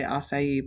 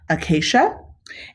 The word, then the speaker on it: acacia: have ants on the i always want to say acai but it's acacia ants on the acacia